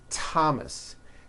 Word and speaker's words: Thomas: spelled with a th they are pronounced as if they were spelled with a normal T like that and these words are Thomas Thompson Teresa Thailand Thames